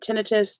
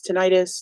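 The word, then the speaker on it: tinnitus: worse I'm having constant tinius tentis depending on how you pronounce it I've heard it both ways um and I'm now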